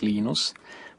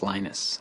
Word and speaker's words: Linus: I speak Finnish it's lenos when I speak English it's lonus and I really don't